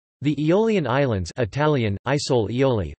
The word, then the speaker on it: Isole Eolie: The Aeolian Islands, Italian, Isole Aeoli, pronounced Isole Elje, Sicilian, Isouli Eoli, Greek, Aeolides Nessoi, Aeolides Nissoi,